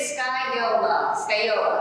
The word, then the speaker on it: Scagliola: Okay, but this is the pronunciation, so forget about this G, and forget about that L, just think Scagliola, that's it.